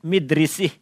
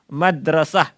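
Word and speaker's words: مدرسة: kita tidak memiliki kosakata kita akan mengatakan midrisih saya enggak tahu Benar apa salah mudrusuh atau Madrasah nah ini agak benar Madrasah artinya sekolahan tetapi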